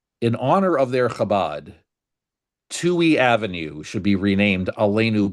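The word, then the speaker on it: Touhy: Now, Chicago has a street uh, a relatively busy street called Tui Avenue. It's spelled t o u h y.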